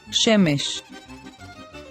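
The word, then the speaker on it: שֶׁמֶשׁ: under the letter man this naked sign is called it tells us to pronounce a short d sound as in the e of egg so we say shemish shemesh now let's look at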